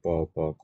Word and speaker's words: bo: পাচ্ছি সেটা হচ্ছে যে বির উচ্চারণ হচ্ছে বাংলায় প এর মত ঠিক আছে এবং এর টানটা অনেকটা পকার প এর মত হবে যেমন পো ঠিক আছে তাহলে বীর